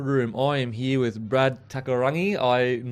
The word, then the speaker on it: Brad Takairangi: Brad Takairangi.